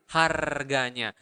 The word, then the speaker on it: harganya: The price is harganya. Remember, in Bahasa, you really pronounce the R, so you need to roll your tongue and make that sound. Harganya, harganya. Okay, not like price.